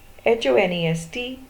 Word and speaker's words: honest: Next, H-O-N-E-S-T, man. Honest man. Again H is silent. The first sound is a vowel sound O.